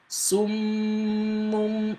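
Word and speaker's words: صُمٌّ: Summun, right? Summun. You see, I was pronouncing the silent Meem first before pronouncing the other one with Dhamma.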